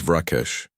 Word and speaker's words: Vrakesh: The middle part needs to come from deeper in your throat.